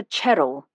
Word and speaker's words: Cheryl: Helen lives in Eastwick with her daughter Cheryl. She pronounced Cheryl with a ch like Cherry.